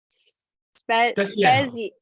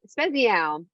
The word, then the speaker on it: Speziale: Joe, oh gosh, Joe, I already forget how to pronounce it. Speziale. Speziale.